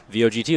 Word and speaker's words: Vogt: How'd they spell that? V-O-G-T, like Stephen Oh, Vogt.